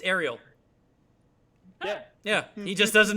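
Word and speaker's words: Arial: all font names yeah that's king ariel it's ariel yeah yeah he just doesn't know how to pronounce it because he's never heard it before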